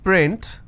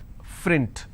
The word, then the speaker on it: print: example if i have the word which is print lot of people pronounce this as frint so that is where